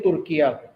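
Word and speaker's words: Türkiye: ये spelling use करने उर्दू में तुर्किया कना तुर्की नहीं कहना और इ तुर्किया जैसे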